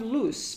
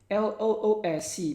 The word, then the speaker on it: loose: blunt and sharp tight versus loose speaking of loose pay attention to this word l-o-o-s-e pronounced loose loose l o s e only